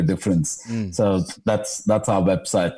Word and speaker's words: d'frens: uh dfr NS but pronounced as difference as in making a difference so that's that's our